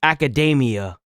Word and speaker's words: Academia: But the way this is pronounced is Academia.